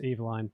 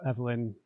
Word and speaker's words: Evelyn: Since they first met 3 years ago, Walter and his glamorous A-list wife, Evelyn, should be pronounced Eveline, but Evelyn Dane Londra has been inseparable.